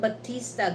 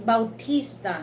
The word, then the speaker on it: Bautista: actually Batista you know when we pronounce that it's not Batista guys it's Bautista you know that's in Filipino we going to you know spelling that we pronounce that Bautista but you know in American you know pronunciation they uh pronounce that Batista but you know in in you know in Filipino we pronounce the Bautista and who else the